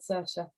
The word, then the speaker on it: Saoirse: Well, you can imagine the fun I had with that one, but I did eventually find out she's called Saoirse, unless somebody's going to tell me I'm wrong.